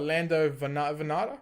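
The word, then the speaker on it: Vannata: Next we got Lando Venata. Is that how you Yep, pronounce it?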